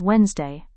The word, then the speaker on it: Wednesday: D may be silent in some words when followed by another consonant. Like, our first word is Wednesday. We never pronounced it as Wednesday.